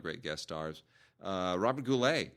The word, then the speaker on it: Goulet: a lot of great guest stars uh Robert goule right bernardette Peters come on pronounced goulette yeah uh so anyway that's uh that's it